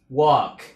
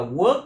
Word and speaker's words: walk: Walk, walk, walk, walk. Mình đừng đọc là work nha, work là làm việc, còn này là walk.